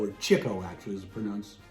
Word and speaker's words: Chico: 1961, Leonard Chico, or Chico actually is the correct pronunciation, Marx of the Marx Brothers.